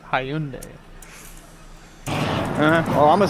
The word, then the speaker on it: Hyundai: Hundai. Like, you don't understand, bro. Like, I'm really a different ball game. Like, I'm really that dude. That's the first time I've ever heard him mispronounce that. Hyundai.